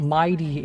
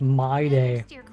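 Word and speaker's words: Mydei: It's not Mighty, it's my day.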